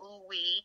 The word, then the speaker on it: OUOUI: ambassador for, a rum liqueur called Ooh Wee. They're selling it everywhere in Georgia now. We're like in over 70 stores in Georgia. I'm so excited about that. And it's spelled OUOUI.